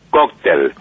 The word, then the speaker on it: cóctel: O su segunda palabra que quería aclarar es la palabra cóctel. Nosotros decimos cóctel y no cóctel. En Centroamérica se dice cóctel. Nosotros decimos cóctel con acento en la O, y debemos hablar según la sociedad en que estamos insertos.